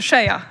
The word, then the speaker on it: Sheyaa: Chciałabym od razu też sprostować, że tutaj mój nick czyta się Szyja.